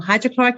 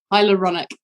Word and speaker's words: hyaluronic: to say it wrong hydrochloric acid hyaluronic Hydrochloric is not good right I yeah hyaluronic hydrochloroplastic would burn my face off hyaluronic hyaluronic yeah hyaluronic acid I think would like